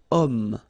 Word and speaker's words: homme: Remember, H is not pronounced, okay, so you've got the sound of O at the beginning of this word, okay, cet homme, so